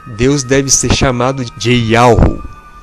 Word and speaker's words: YHWH: Yahushua está relacionado ao tetragrama YHWH, cuja pronúncia é Yahu, que significa Pai, ou seja, Deus, o Deus Criador.